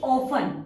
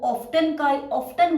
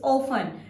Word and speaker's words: often: Next word is often. O-F-T-E-N. Often. This is the correct pronunciation of this word. आप यहाँ पे टी को silent रखेंगे। बहुत सारे स्टूडेंट्स हैं या बड़े लोग भी हैं, वो ऑफ्टन बोलते हैं इसको, बट